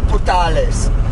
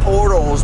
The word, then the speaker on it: Portales: We spent another night at Walmart in Portales. I think George said Portals, but I think it might be pronounced Portales. Yeah.